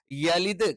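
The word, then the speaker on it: يلد: ലം ആയി പോകരുത് തെറ്റാണ് യലിദ് കറക്റ്റ് പറയണം എ ആയി പോകാൻ പാടില്ല അത്തരത്തിലുള്ള ഉച്ചാരണങ്ങൾ അറബിയിൽ ഇല്ല വലം എഗൈൻ എന്താണ് വലം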